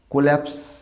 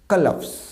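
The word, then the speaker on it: collapse: কোল্যাপস। আমরা এটাকে কোল্যাপস বলি, হঠাৎ করে পড়ে যাওয়া, CO আছে, কোল্যাপস। This is নট কোল্যাপস, উচ্চারণ হবে কলাপস, নট দ্য কোল্যাপস, উচ্চারণটা হবে কলাপস।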